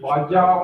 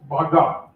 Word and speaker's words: Baja: of you by know by now knows that baja is pronounced as Baja and not pronounced as baja or B so in North many people call as Baja in South many people call it Baga but the real pronunciation is Baja it is